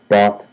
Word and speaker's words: bought: The gh is silent. About the gh in these irregular verbs gh is silence.